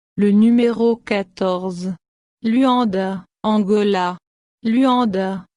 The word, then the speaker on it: Luanda: Luanda, se prononce Luanda, anciennement Esatile-de-Haut-Podazasu-1 Satil-de-Haut-de-Loanda, est la capitale de l'Angola en Afrique australe.